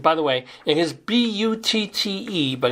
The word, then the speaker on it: Butte: the way it is bu tte but it is pronounced Butte like beautiful Crested Butte is a